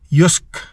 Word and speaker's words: Jysk: daw pala ako nag-iisa ang pronunciation daw ng jysk ay yus yun pala yun yus yk o Anyway kakalito